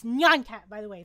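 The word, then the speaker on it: nyan cat: the way it's not nonon cat it's not neon cat it's neon cat okay that's how you say a cat meow in Japanese it's neonat thank you that was a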